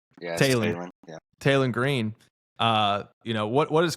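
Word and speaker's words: Taylen: Taron Green with I believe that's how you say his name, first name. Yeah, Talon.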